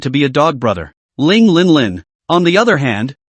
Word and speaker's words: Ling Linlin: be a dog brother Ling Lin Lin on the other hand because the name is pronounced like the Arabic number 0000 coupled with a well-developed